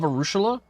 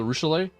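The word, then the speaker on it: Arueshalae: I love Arushula. Even if I can never say her name right because it's Arushule.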